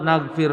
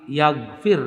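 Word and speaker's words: نغفر: Firman Allah, naghfir lakum khotoyakum, ada yang membacanya dengan ya, bukan naghfir lakum, tapi yaghfir lakum. Ada lagi yang membacanya dengan ta, ya, taghfir. Wal baqun binun maftuhah. Sedangkan yang lainnya membaca dengan huruf nun yang di fathah, naghfir.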